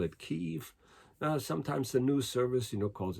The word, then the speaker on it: Kyiv: And now they're spelling it on maps as K-Y-I-V. And it's my understanding that the Russians have always kind of pronounced it as Kiev, but the Ukrainians call it Kyiv.